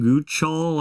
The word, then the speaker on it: Guchol: We do have a tropical system, Typhoon Guchol, I believe is how it's said.